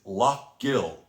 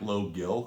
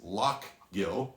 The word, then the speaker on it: Lough Gill: and the distillery is lock gill and it looks like low gill i know but it is lock gill believe me i mispronounced